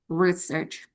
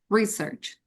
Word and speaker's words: research: maksud saya adalah penelitian, I put the stress on the first syllable. So the pronunciation for the word research will be research. Research.